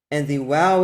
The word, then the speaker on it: Waw: the original pronunciation, and they distinguish between the wow and the soft bait by reading the soft bait as a v and the wow as a w. So just from that, we can know it is a wow, not a vav.